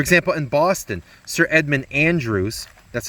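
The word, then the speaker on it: Andros: american colonies for example in boston sir edmund andrews that's how that's pronounced andrews is uh he's overthrown he was hated they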